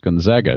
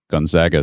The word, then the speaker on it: Gonzaga: ironically you guys mispronounced gonzaga the university the connects correct pronunciation of the first a is a long a i live in spokane